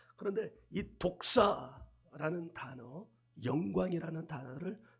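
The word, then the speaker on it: δόξα: 헬라흐는 독사예요. 독사. 여러분 독사하니까 혹시 뱀을 떠올리시는 사람 있을지도 모르겠는데 없다고 말하지 말아요. 반드시 있다. 근데 이거 헬라어 발음이 독사예요. 독사.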